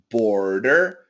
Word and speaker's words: border: the same ending here border border it's like a flap T very very quick border border border murder